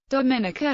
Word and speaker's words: Dominica: gained independence in 1978 its name is pronounced with emphasis on the third syllable related to its former Dominique Dominica has been nicknamed that